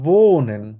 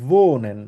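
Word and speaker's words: wohnen: Same ভাবে আমরা আরেকটা ভার্ব শিখবো, সেটা হচ্ছে ভোনেন। ডাব্লিউ আছে, ভের মতো উচ্চারণ হবে, বলবো হচ্ছে ভোনেন।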